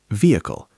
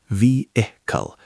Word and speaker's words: vehicle: Vehicle, pronounced vehicle, not vehicle.